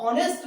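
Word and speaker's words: honest: हमारे साइलेंट होते हैं, हॉर्स में ये साइलेंट नहीं है तो उसको पूरा हा पढ़ा जाएगा, और ऑनेस्ट में ये साइलेंट रहता है, इसमें आ जाता है आपका ऑ।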